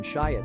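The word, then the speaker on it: Schiit: Modi is a DAC from shyit and yes that is really what they're called sounding exactly as it's spelled I have now tested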